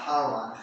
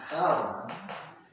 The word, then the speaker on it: Charan: We were talking about what's about to happen to Yaakov as he's on his way to Charan, not Haran, Charan. Okay, and in English you would spell that with a CH.